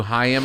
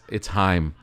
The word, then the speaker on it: Haim: be like, "Hey, did you hear the new Haim album?" She's like, "It's Haim." Yeah, it's good though, right? Like, I was so close. I knew the album, I knew the song, and I mispronounced the name by one syllable.